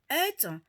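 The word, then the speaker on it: עת: Le temps en hébreu qui se prononce ETH, E-T-H, qui signifie marquer un temps d'événement, une époque, un temps usuel.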